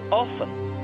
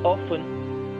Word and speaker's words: often: And often, about often, until 17th century, Richards were also, they were also pronouncing it as often. But nowadays, then it stopped, and all the Britishers started using often. Nowadays, now, some people are pronouncing this word as often, and often as well. But more people pronounce it as often. But some educated also pronounce it as often, so there is no problem in pronouncing it often.